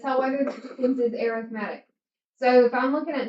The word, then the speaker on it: arithmetic: So for sequences, you have, this looks like arithmetic, but it's really actually pronounced arithmetic.